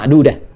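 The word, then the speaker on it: معدودة: Coba lihat kalau yang di Albaqarah ayat 80 ma'dudah yaumallahi ahli ah ya kanamun kan ya. Yang paling menarik adalah di Albaqarah itu tanya marbutah ya. Tanya marbutah pendek bacanya ma'dudah.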